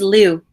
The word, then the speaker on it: Liu: I was saying Lou. Is it you? It is Liu.